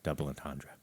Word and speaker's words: double entendre: their songs had a little bit of a double entendre, which is that French? It Well, was a double pier. You didn't pronounce it correctly if it's South Dakotan French. double entendre.